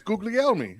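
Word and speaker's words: Guglielmi: think someone with the name p warski could pronounce other people's weird names I did it's right it's googly elme it's an Italian okay there you go the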